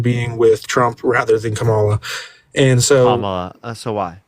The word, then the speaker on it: Kamala: Kamala, yeah.